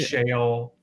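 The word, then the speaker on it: Sheol: e o l so it's pronounced the same whether it's Shale in Hebrew shale in English it said the same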